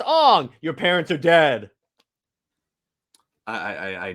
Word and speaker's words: Aang: Hey, Mom, how do you pronounce Aang's name? Oh, it's Ong.